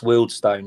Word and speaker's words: Wealdstone: It's Wealdstone. Yeah, we're very proud of the name, and if that's the way it's pronounced.